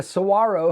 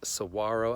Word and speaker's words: saguaro: And funny enough, we stayed at the Saguaro Hotel, which is like this cool kind of hip.